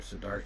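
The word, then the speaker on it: Siddhārtha: also desire for being would the Buddha pronounce his name sadata or sarta well we don't know the the simplest answer I mean that Sadat is the polyform sadar is the Sanskrit um we're not even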